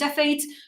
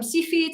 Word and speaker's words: Cepheid: I've since looked it up, and there's like 5 different accepted pronunciations. I use Cepheids. Some people call them Cepheids. Some people call them Cepheids. Different ways of pronouncing it.